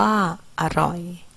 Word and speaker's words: อร่อย: ขนม อ่าน ว่า ขนม มี อร่อย อ่าน ว่า อร่อย ฉลาม อ่าน ว่า ฉลาม ออก เสียง อะ กึ่ง